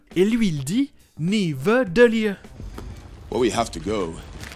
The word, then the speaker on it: Nidavellir: Il inverse le D et le V. Le bon nom est Nidavellir. Et lui, il dit Nidavellir.